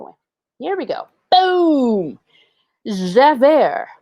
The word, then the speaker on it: Javert: here we go boom jeffer pronounced javert is a fictional character